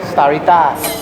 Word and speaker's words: Starita: ประเทศ ไทย ร้าน มัน อ่าน ว่า ชื่อ สตาริต้า starita แปล ว่า อะไร ครับ เป็น ชื่อ ที่ มา